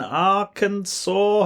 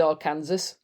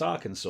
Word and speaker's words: Arkansas: and a traveling preacher and ended up in Arkansas have I remembered that right for years I said AR Kansas did you yes yeah because Americans always pronounce